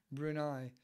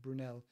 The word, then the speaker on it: Brunel: And then his father was also a famous architect and engineer, Brunei, or Brunel, however you pronounce it. I feel terrible now pronouncing it wrong. Brunel. Isambard Kingdom Brunel.